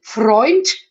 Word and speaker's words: Freund: Freund, es gibt more, use the end T, you know, Freund, as you know, you have a very good diction, darling. You know that we always pronounce a T at the end in Germany.